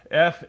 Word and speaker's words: Farrer: Farrer.